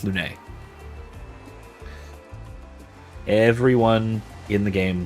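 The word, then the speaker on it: Lune: Well, it's pronounced Lun really because everyone says Lun.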